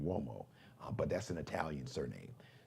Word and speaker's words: Uomo: Now, Uomo is spelled with a U. It's got the W, like the W-O sound, Uomo, but that's an Italian surname.